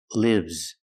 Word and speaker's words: lives: like this is live lives the S makes a zebra sound Z lives I live in a